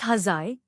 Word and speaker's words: huzzah: Pronounced huzzai, the 17th century mariner's exultation of choice, believed to have been derived from an older mariner's cry, he's, meaning hoist.